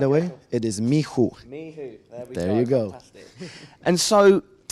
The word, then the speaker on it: MICHU: Mihu.